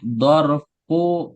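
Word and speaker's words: ظرف: jelaskan cara baca tahta dhorfu makanin perhatikan ya jadi kalau kalimat pertama itu pakai dhommah huruf terakhirnya dhorfu walaupun mungkin kita kenal dhorof tapi kalau zhorof itu kan bahasa Indonesia tapi kalau bahasa Arabnya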